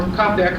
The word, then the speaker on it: Čapek: Two of the best contributions from Czechoslovakia are Karel Čapek's, or Kopek, however you want to pronounce it, The First Rescue